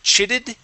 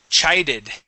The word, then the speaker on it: chided: words first up is chided instead of chitted chided chided excellent okay let's go to